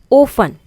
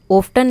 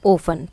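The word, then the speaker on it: often: ओफन, ओफ्टन नहीं, ओफन, तो T silent है।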